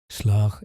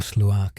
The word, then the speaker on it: Sluagh: Slark is pronounced roughly as sla in some regions or slak in others with that final sound being a guttural catch like in lock.